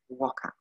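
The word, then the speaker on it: Whaka: now you know why we don't use the uh the wh as an f we quite simply call it waka okay waka is incredible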